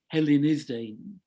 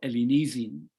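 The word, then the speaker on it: ἑλληνίζειν: And that is actually my translation of an ancient Greek verb, Hellenizdein, or Ellenizin in modern pronunciation, which means pretty well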